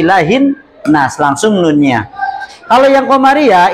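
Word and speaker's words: إِلَٰهِ النَّاسِ: alif lam di sini Kenapa dibacanya tidak ilahil alnas Enggak kan ilahil Nas tidak tapi ilahin Nas langsung nunnya Kalau yang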